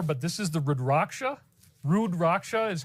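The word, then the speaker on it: Rudraksha: Rudracha is how you pronounce it.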